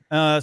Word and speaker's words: Albert: Is this, Albert. So that's my name. That's how it's pronounced in French.